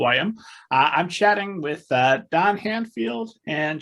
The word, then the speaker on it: Handfield: I'm chatting with Don Handfield and Joshua Malkin. Did I get both of those pronounced correctly? Yep, you did.